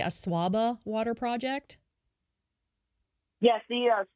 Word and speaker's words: Asuaba: You're CEO of United Community Solutions, and some of your projects include the, am I pronouncing this correctly, Asuaba Water Project? Yes, the Asuaba Water Project.